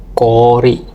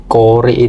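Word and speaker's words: こおり: Ini contoh yang buat O doble. Kita ada ko, ada O, sama ri. Kori. Kori itu artinya es batu.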